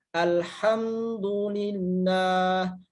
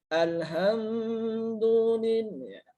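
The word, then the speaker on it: الحمد لله: Contohnya ada alhamdulillah. Jangan berdengung ya, tapi di sini harus jelas. Alhamdulillah. Jangan alhamdulillah. Ya, jangan sampai ada dengung atau gunnah gitu ya. Jadi harus jelas. Alhamdulillah gitu ya.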